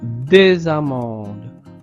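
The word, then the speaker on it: des amandes: Ce sont des amendes. Ce sont des amendes. Liaison entre le S et le A.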